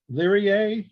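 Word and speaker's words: Lyrae: is it okay well how do you pronounce the l-y-r-a-e leery a lyric lyric in latin uh of of lyra okay that's a possessive case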